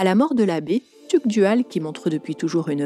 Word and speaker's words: Tugdual: domnoné britannique petite parenthèse je prononce TUC dual mais on est bien d'accord qu'il existe plusieurs versions de ce nom dont tuudual Tudal ou même Pasu moi je choisis de prononcer tu dual c'est la version la plus commune la plus connue en tout cas comme tous les nobles